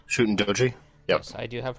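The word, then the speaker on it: Shuten Dōji: Shootin' Doji. Shooting Doji?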